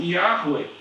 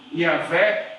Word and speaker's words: Yahweh: a gente e falaram, olha, Y, H, W, H pode ser pronunciado com a expressão Yahweh, ou Yahvé, ou Yahve, ou Jeová, ou Javé.